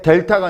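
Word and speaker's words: delta: 그다음에 델타가 아니라 딜타.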